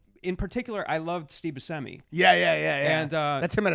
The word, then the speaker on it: Buscemi: And he's like so Buscemi, Right. And by the way, that is how you pronounce his name.